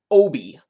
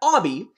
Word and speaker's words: Obi: I will probably butcher the o sound you're supposed to make for this this is an Obie not an Obby not an Abby and not supposed to be like Obi-Wan unless maybe it's like